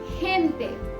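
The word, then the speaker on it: gente: अगर खे ए और ई के पहले है तो उसकी प्रोनाउंसिएशन होगी ख और सभी केसेस में होगी ग। जैसे खेनते, खेनते और गातो, गातो। तो पहले एग्जाम्पल यानी कि खेनते में हमने हे को ख बुलाया है क्योंकि वो ए के पहले है, और दूसरे एग्जाम्पल में हमने उसे ग बुलाया है क्योंकि वो आ के पहले है।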